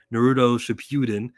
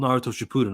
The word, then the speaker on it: Naruto Shippuden: We got our doubts the way he was talking about Naruto, and he pronounced it Naruto Shippuden. It's called Naruto Shippuden, okay?